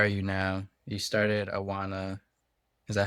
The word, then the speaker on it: Awana: You started Awana. Is that how you pronounce it? Awana Health. Awana.